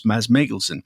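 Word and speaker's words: Mads Mikkelsen: But before we get to the interview, there's a bit of discussion regarding how to pronounce Mads Mikkelson's name, which is of course Maz Meglesen.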